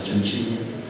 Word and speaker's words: Cencini: Amedeo Cencini, Cencini con C, Cencini, nada más que en italiano se pronuncia Cencini.